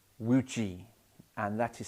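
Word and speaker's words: wuji: this posture we call wu ji and that is spelt w-u-j-i it's quite confused with the word chi wu chi people call it it isn't that it's woo g w u j i and would g if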